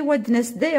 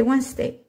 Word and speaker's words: Wednesday: Mais vous n'allez pas le prononcer Wednesday en anglais. En anglais, c'est Wednesday.